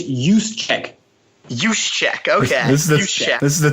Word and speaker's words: Juszczyk: It's Juszczyk.